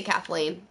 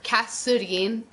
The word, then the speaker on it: Kathleen: Because there's no th sound in Korean.